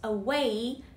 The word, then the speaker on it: away: Put away, F-E-A, way, away, put away your ties, put away, a, way, trọng âm rơi vào âm tiết thứ hai, away, put away your